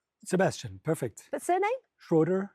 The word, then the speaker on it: Schroeder: But surname Schroeder. Schroeder.